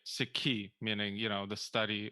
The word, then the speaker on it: Sikhi: you think did the the mispronunciation kind of the long e seek did that start with